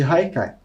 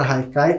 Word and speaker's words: Haikai: como vocês podem ver a palavra Haikai como ela é de origem japonesa se escreve com h mas tem esse som de R e muitas vezes pode